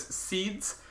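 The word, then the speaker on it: sidhes: These passageways were known as seeds.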